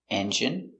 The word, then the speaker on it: engine: so remember these words words ending in i and e can have different pronunciations all of these have the sound in Imagine examine engine discipline feminine and masculine thank you for watching